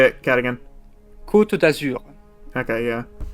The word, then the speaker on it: Côte d'Azur: Côte d'Azur. Okay, yeah. I pronounce it more like it's Spanish because I look at it and I'm like, that looks more Spanish to me.